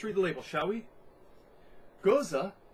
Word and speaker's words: Gose: is Sam Adams good to go got to goes from got to go so sorry I am i mispronounced it most most goza sort of um gears are puns on the